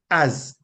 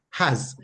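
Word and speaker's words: עז: Transliterated from the Hebrew to English as az, and it is pronounced has. So it has a H sound at the beginning, right? Even though it's spelled az, it's pronounced has, like you could say, you know, he has a Bible or so on, right?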